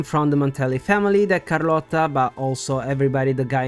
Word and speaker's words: Carlotta: we met car and like before almost perfect but I'm not complaining it's just technically Carlota when we arrived at the avard Vault we heard a name from The Montel family that Carlota but also everybody the